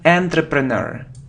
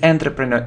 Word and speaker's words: entrepreneur: many people make mistakes here look it isn't entry preneur it is an entrepreneur it's all entrepreneur entrepreneur it's like a businessman